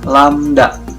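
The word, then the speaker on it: lambda: lembah ini apa sih ini dibacanya lamda lamda ya ini adalah lambang dari panjang gelombang Naruto menghitung panjang gelombang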